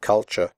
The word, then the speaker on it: culture: should pronounce the word culture correctly the first you is pronounced like the ooh in but and the last syllable is pronounced sure here are some other